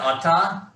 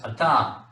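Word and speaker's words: אתה: Atah? Does atah sound right to everybody? Okay, that's atah. That's masculine singular for the word you.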